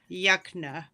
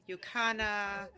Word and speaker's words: Yukna: It's technically Yukna. Yukna. Yeah. Yukna. But we get Yukna, Yukana, Yuknevich, every name but Yuknevich.